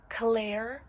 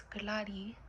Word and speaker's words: Clary: By the way, my name is not pronounced Claire. I'm not misspelling Claire, no, it's Clary.